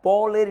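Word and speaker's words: Pauli: পল দেখ পি ইউল পল এটার উচ্চারণটা হচ্ছে পল প ইউল পল তো আমরা পলের নীতি বলা উচিত। কিন্তু আমরা সবাই কি বলি বলতো? যে পলের নীতি না বলে পাওলির নীতি।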